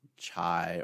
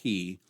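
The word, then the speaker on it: chi: different than you know fraternities today when they pronounce it chai or KY that's alright for them and and if you pronounce it that way - that's fine we won't have sleeve for it but in this pronunciation scheme it's it's named hee and makes a sound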